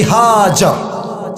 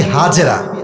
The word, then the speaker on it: হাজার: বউয়ের নাম বিবি হাজার। নাম কি বলেন সবাই? আমরা বলি বিবি হাজেরা, এটা সঠিক উচ্চারণ না, আরবি উচ্চারণ হচ্ছে বিবি হাজার।